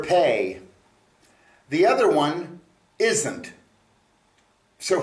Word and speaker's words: פ: is uh a mouth okay uh the letter pay is spelled pay olif um if you're using it